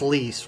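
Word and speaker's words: Lyse: It is pronounced Lise, right? Yep. I Lise, yep.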